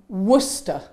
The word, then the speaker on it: Worcester: In Sachsen weiß ich nicht, aber hier Würkester und ganz verschieden. Aber eigentlich heißt das wie? Worcester. Worcester. Worcester. Es gibt sogar eine Grafschaft in England namens Worcester.